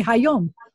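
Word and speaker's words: היום: supposed to come and i want to say today i have to say hi yom that that's how you say today so i added some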